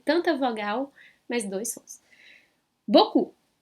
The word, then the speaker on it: beaucoup: Bo-cu. Bo-cu. Então é o som de O e depois na última sílaba um som de U. Que vão vir dessas vogais aí, né? Tanta vogal, mas dois sons. Boku.